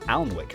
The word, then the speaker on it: Alnwick: stop in Quernmore, Quorma, before finishing up in Alnwick.